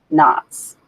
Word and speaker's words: NOTS: navel audience test station pronounced in short as nots Naval Weapons Center and